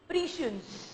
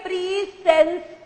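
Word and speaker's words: prescience: Word का pronunciation प्रीशियंस। Word क्या है? प्रीशियंस। प्रीशियंस थोड़ा गलत करूंगी यहां पर आपको याद कराने के लिए। इसे पढ़िए प्रीसेंस करके, इसे पढ़िए प्रीसेंस करके। प्रीशियंस को प्रीसेंस करके पढ़िए।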